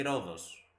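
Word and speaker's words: Rhodes: but yeah in roads I think it's pronounced roads in English right in in Greek we say Ros that is the name but yeah it's the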